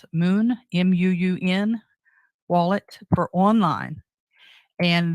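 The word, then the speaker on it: Muun: look at them I don't know how you pronounce it Moon m-u-u-n wallet for online and then Tresor wallet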